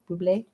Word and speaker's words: Bublé: Bublé?